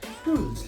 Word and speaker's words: Rulz: Rules, like the normal rules and regulation kind of pronunciation.